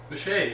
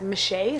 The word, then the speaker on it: Michea: Michea, if you could just tell us where that name came from.